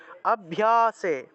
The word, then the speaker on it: অভ্যাসে: থাকায় ম ধনঞ্জয় ধনঞ্জয় এইভাবে তারপর 10 নম্বর অভ্যাসে অভ্যাসে পিয়া এই যে লুপ্ত অ আছে লুপ্ত থাকলে আগের অংশটাকে একটু টান দিয়ে উচ্চারণ করতে হয় অভ্যাসে এখানে দেখুন আরো